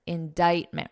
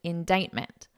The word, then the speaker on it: indictment: Indictment. Remember that pronunciation, indictment.